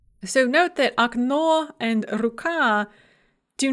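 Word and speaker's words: рука: words with two syllables, that are stressed on the second syllable in the singular, and then the stress shifts to the first syllable in the plural. So okno, window, becomes okna, windows. Ruka, hand or arm, becomes ruki, hands or arms.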